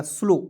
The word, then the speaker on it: slow: यहाँ आप देखेंगे SLOW, तो S का आधा स, L का ल, OW है तो इसका उच्चारण O के रूप में करेंगे, हो जाएगा स्लो।